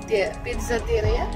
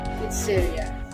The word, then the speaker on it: pizzeria: Ipapakita ko yung mamaya yung pizzateria? Huh? Or pizza? What? How you pronounce it? Pizzeria.